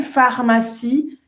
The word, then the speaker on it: pharmacie: Il y a une pharmacie près d'ici. Olha, a farmácia se escreve com PH, mas tem som de F, tá? E o IE no final tem som de I, tá?